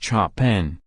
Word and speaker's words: Chopin: Amanda decides to forego the Chopin, pronounced Chopin, well done, Mary-Kate, and in what can only